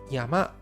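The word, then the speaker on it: やま: on the screen here the kunyi reading for this kanji is Yama which means mountain now this word in Chinese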